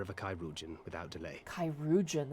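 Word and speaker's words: chirurgeon: a chyuan without delay kyugan is how you say that oh kyugan I thought it was like a play on surgeon which I guess yeah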